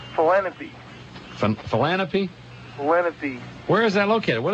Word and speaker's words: Lenape: Okay, that Boy Scout name you were trying to pronounce is called Philanthropy. Philanthropy? Lenape.